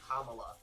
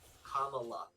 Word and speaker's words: Kamala: the way like page one she's like it's pronounced kamala like the pronunciation kamala so kamla harris is like steps in and